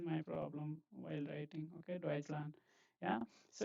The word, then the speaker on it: Deutschland: Okay, Deutschland. Yeah, so if you break this, This is Land. This is Deutsch. This is Land. Okay, that's how it is pronounced.